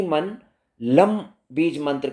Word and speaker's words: लम: हमारे मूलाधार चक्र का जो बीज मंत्र है वो है लम। ल के ऊपर म की बिंदी, लम, LAM, लम।